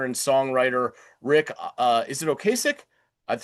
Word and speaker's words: Ocasek: However, on May 10th of 2016, Cars singer and songwriter Rick, is it Ocasek? That's how I've always pronounced it.